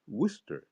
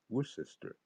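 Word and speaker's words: Worcester: that's how I know it is wester and not wor sister or things like that and Lester instead of Lister that's yeah I I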